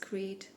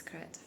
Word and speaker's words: Crete: Today is Saturday and I already wanted to say that yesterday that I found out yesterday that I pronounced Crete the wrong way. For some reason I thought it's Crete.